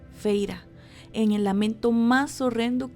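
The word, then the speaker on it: Feyre: pronunció las dos sílabas de mi nombre, Feira, en el lamento más horrendo que yo hubiera tenido que soportar jamás.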